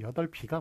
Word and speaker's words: 여덟이: 제가 이런 식으로 읽었습니다만, 자, 발음이 여덟이가 맞을까요? 여덟비가 맞을까요? 예, 요거 여덟비가 맞아요. 예, 그 여덟 할 때 그 이게 리을 비읍에 겹받침이 되면 뒤에 비읍은 뒤로 넘어가가지고 그렇게 연음 현상이 되거든요. 연음으로 읽어줘야 됩니다.